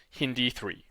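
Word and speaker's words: HindIII: you today the first restriction enzyme is called hindi 3 okay it's kind of looks like hind 3 but it's actually pronounced hin d3 the other one is called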